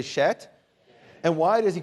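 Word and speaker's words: שֵׁת: Seth, the second son there, or the third son, is in Hebrew Shet. Say Shet. And why is he called Shet?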